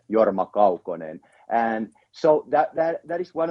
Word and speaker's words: Jorma Kaukonen: who came up, like, now you heard how to pronounce his name, because he's actually related to Finland. Nice. So that's how his name is originally should be pronounced, Jorma Kaukonen.